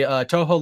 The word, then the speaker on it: Touhou: time being it is cuz I don't believe Touhou aluminates is available on anything else either oh she yeah which is unfortunate because oh actually touhou lunatic is available on the switch I'd imagine